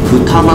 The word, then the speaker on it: 二股: がこれはねもう普通に思うだけでいいです二股と読むんですがね